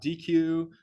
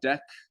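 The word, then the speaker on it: deque: word right here d-e-q-u-e is pronounced as a DEC not DQ or Deku those are incorrect it is pronounced deck um and this is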